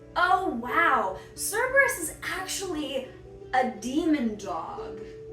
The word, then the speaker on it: Cerberus: Up next with the legendaries, we have Cerberus. Cerberus. Oh wow, Cerberus is actually a demon dog.